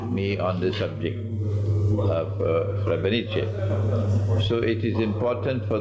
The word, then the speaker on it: Srebrenica: That's the correct pronunciation? Srebrenica.